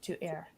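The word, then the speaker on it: Éire: Newfoundland, of Ukdagamguk, are indigenous to Ireland, to Eire, is how you say that in Gaelic, in Irish Gaelic.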